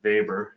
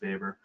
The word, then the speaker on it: Weber: a from an old Supreme Court decision called vber it's spelled Weber but pronounced faor um where the Supreme Court was basically asked